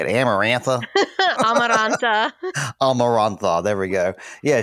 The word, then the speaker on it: Amaranta: Amaranta.